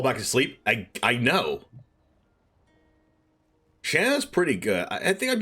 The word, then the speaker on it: Shanna: How do you say this? Shauna or Shanna? I know I said Shauna, but I guess it's Shanna. Whatever, it's a purifying blade.